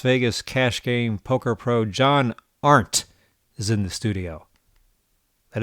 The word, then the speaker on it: John Arndt: 28-year-old Las Vegas cash game poker pro John Art is in the studio. That is the correct pronunciation, right?